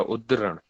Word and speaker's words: उद्धरण: याद रखिएगा हिंदी वाले, थोड़ा सा टफ है इसका प्रोनाउंसिएशन, लेकिन आपको याद रखना पड़ेगा, उद्धरण, ठीक है।